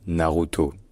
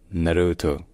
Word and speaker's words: Naruto: manga et d'animé japonais en français on dit simplement Naruto mais en japonais ce n'est pas vraiment ça en japonais on dit Naruto Naruto alors comme ça ça a l'air simple on dit c'est juste le r français qui remplacé par le mais en fait les voyeles sont légèrement différentes du français d'ailleurs je l'ai fait